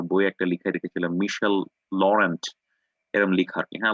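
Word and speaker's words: Laurent: যেমন আ আমি একটা আমার বইয়ে একটা লিখায় রেখেছিলাম মিশেল লরেন্ট, এরকম লিখা আরকি, হ্যাঁ? লরেন্ট। কিন্তু লরেন্টকে ফরাসিরা উচ্চারণ করে লরা। ওকে? তারা বলবে মিশেল লরা।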